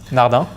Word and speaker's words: Nardin: very French accent and its release nada nada so you leave now though yeah so there is no nothing at the end yeah and it just